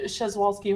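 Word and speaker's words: Przewalski: It almost looks like I'm gonna butcher the name. Sowski horses or Yeah, Shezwalski horses.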